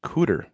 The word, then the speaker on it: Cooter: Last one, blank rhymes with tutor. That would be Cooter.